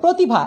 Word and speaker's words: প্রতিভা: যেমন দেখো, ব্রত লিখছি উচ্চারণ করছি ব্রত, গ্রহ গ্রহ, প্রতিভা উচ্চারণ হচ্ছে প্রতিভা একটা ওকার দিয়ে, প্রভাত প্রভাত প্রভাত যেটা